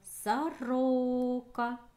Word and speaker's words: сорока: Следующее слово — сорока. Ударение падает на о, вторую о.